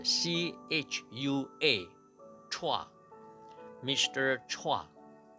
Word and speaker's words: Chua: 英语蔡在新加坡英语的拼写是 CHUA Chua Mr.